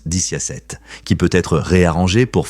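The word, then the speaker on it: diciassette: En italien, 17 se prononce diciasette, qui peut être réarrangé pour former le mot vixi, signifiant « j'ai vécu », une phrase associée à la mort.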